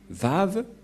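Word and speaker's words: וָו: Vav. Et la prononciation, c'est V as in vogue.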